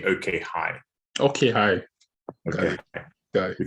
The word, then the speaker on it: OkHi: think to clarify uh we we pronounce uh the name of the company okay hi okay hi okay so